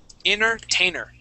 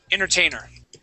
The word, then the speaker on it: entertainer: we actually say inner Entertainer Entertainer like that Entertainer uh we without the first T Entertainer without that first T Entertainer Entertainer ex exactly